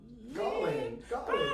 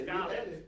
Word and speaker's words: Gaulien: you need to just tell me how to pronounce it. Gaulien, yes, I got it, yes, Gaulien.